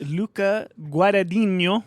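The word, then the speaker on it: Luca Guadagnino: yeah um hey did you guys see that Luca guadino yeah is that how repr pronounce his name yeah it is Luca guo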